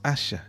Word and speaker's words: ASH: signé par le tagueur ASH, sigle qui se prononce H et qui se décline